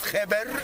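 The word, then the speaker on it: kheper: But also in hieroglyphic, the ancient Egyptian writing, the figure scarab was a word written, looks like scarab, pronounced kheber, means good.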